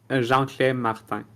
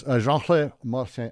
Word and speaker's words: Jean-Claude Martin: You're pronouncing an N at the end. You're not supposed to. There's no N in French. Okay, yeah. Gotcha. So it's Jean-Claude Martin.